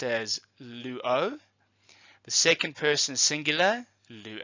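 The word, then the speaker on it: λύω: modified presents active endings using the example of Luo and these are the endings that you are going to have to learn so let's go through them together the first person singular is pronounced as Luo the second person singular Luo ice third-person singular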